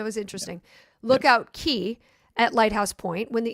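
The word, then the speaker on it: cay: That's pronounced key.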